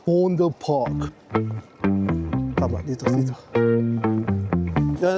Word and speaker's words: Vondel: No it spells as Vondel V. Pero dito kasi V is pronounced as F kaya fond. Fondle park.